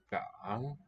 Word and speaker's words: 港: First syllable. 港 Gang, that's the second. Gang.